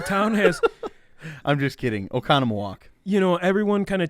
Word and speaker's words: Oconomowoc: list this and one that's really hard to pronounce and actually uh we featured them uh a local brewery from this area is oconomowoc um what was that again okay okay the town has i'm just kidding oconomowoc you know everyone kind of teases their uh